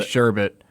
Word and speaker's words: sherbet: thing it's nothing well it's a malapropism it's a mispronunciation of that word yes sure bet it's supposed to be sherbet but there is a